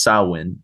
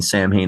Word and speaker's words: Samhain: it, you know, and he says it's really pronounced sin. It's Gaelic. You really see the difference between Sam Hayne and the Misfits when you see the lyrics.